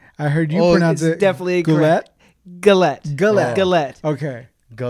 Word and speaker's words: Gullett: we have today on so we have Daniel Goulet but that's how you're pronouncing that it's and I heard I heard definitely a gret galette good luck galette okay go let's often often